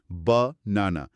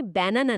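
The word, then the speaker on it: banana: আরেকটা চমৎকার উদাহরণ হলো বানানা বা নানা। এখানে ৩টে আ আছে, কিন্তু প্রথম আর শেষের আ দুটো হলো শোয়া, আর মাঝের আটার উচ্চারণ স্পষ্ট। বাহ! তার মানে ব্যানানা না, উচ্চারণটা আসলে বানানা।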